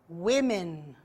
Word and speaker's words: women: Be careful with the pronunciation, okay? Woman, women. One man, three men. Man, men.